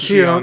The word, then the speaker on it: Xion: And it's spelt Xion. Yeah, it's spelled like Shion.